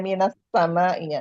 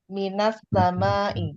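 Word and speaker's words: من السماء: As-sama'i itu sinnya kan masuk, kalau ada alif lamnya berarti menjadi samsiyah. Gitu ya Pak Guru. Ya, minas, nah jadinya begitu. Nah, jadinya minas sama'i ya.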